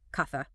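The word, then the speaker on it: caza: The word for hunt, kaza, sounds like katha.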